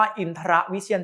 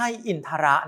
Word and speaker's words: อินทรวิเชียร: ว่า ฉัน ชนิด นี้ อ่าน ว่า อินทรวิเชียร ฉันท์ 11 ไม่ ใช่ อินทระ นะ ครับ ต้อง ออก เสียง กล้าม ด้วย นะ ใน มงคลสูตร คำ ฉันท์